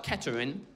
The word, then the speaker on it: Kettering: It's spelt Kettering, but it's pronounced Kettering. That's very important. We miss out half the letters, that's how it's pronounced.